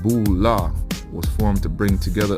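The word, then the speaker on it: Boulé: The Boule, acronym of Sigma Phi Phi and pronounced Bula, was formed to bring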